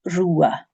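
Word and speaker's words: rubha: And the BH in the middle of Rua is not pronounced. It's more like a W sound. W, so Rua.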